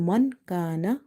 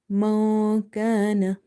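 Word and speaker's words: من كان: So instead of reading Man Kana, we have to say Ma Kana, Ma Kana.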